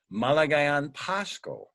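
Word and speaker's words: Maligayang Pasko: And you know how they say it there? They say Malagayan Pasko.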